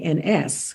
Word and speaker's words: Hemings: Hemmans, which of Mm-hmm. course phonetically sounds like Hemings. If it's pronounced, it would sound like Hemings, not Hemings, Mm-hmm. if you're in the South.